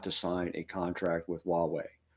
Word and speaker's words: Huawei: this by the way is it Hui wuwei Huawei Huawei that's right like which controls 30%